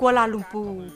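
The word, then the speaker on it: Kuala Lumpur: ใจ มา ฝาก ค่ะ กัวลาลัมเปอ ออก เสียง ภาษา มาลายู ว่า กลลม ปู เป็น เมือง หลวง ของ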